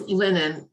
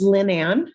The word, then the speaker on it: Lynn Ann: Yes, Lennon. Am I saying it right? It's Lynn Ann, so that could differentiate us.